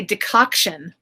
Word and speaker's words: decoction: Okay, you say decoction. Yeah. Am I pronouncing it right?